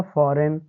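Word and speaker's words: foreign: बच्चों जी आया है तो यहां पर हम जी को नहीं पढ़ते हैं अर्थात जी का उच्चारण नहीं करेंगे जैसे एन ओ एम ई क्या हो जाएगा बच्चों नोम फिर आगे एफ ओ आर ई आई एन क्या हो जाएगा फॉरेन इसी प्रकार आगे आर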